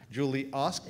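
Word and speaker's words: Julie Ask: Her Twitter handle is @JulieASK, but it's pronounced OSK. Julie Osk, but I hope you're following her on Twitter.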